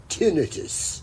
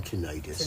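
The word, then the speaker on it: tinnitus: that the other day the experts pronounce it tenus tenus rather than tenius I've always said either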